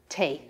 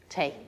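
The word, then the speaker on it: tae: drink it now excellent the word for tea is very similar tay tay um how do you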